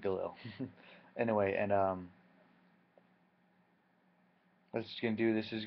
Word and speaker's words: Galil: hammer RPD and then Galil Galil I pronounce it Gil anyway and um that's